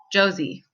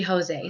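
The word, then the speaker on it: José: most countries in the world they would not pronounce that Jose or Josie so you lose a lot of credibility or at least confuse the audience when it should be Jose so in Texas we probably know that pronunciation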